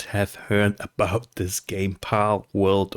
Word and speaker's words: Palworld: heard about this game pal world or pul World pal world so I guess this is how you pronounce it and this game is